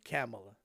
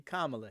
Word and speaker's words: Kamala: think I told y'all, somebody jumped on my case because I was calling her Kamala. It just spelled like Kamala, so that's how I was saying it. So I'm going to say it like it's supposed to be, Kamala Harris.